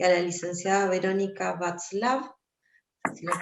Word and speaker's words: Vatzlav: Tenemos en la sala al licenciado Sergio Reynoso y a la licenciada Verónica Václav, si lo pronuncié bien.